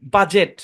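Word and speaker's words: budget: খুবই মজার একটা প্যাটারন ডিজি অথবা ডিজে থাকলে ডি সাইলেন্ট যেমন দেখেন এই শব্দের উচ্চারণ বাজেট কারণ ডিজি একসাথে আছে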